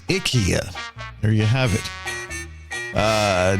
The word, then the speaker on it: IKEA: First up, uh what we thought was IKEA. They're saying the right way to pronounce is Ikia.